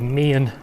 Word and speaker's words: Meehan: And Meehan is how it looks like it's spelt, but it's actually called Meehan.